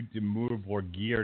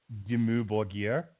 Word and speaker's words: Dimmu Borgir: Demure gear. Spell it with it's just like it sounds. It's DIMMU BORGIR. Dimmu Borgir.